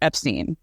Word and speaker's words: Epstein: vake is 100% right the family name Queenie Harry and clyve Brian's brother are Epstein that's their last name however Brian deliberately changed the pronunciation of his name and you can find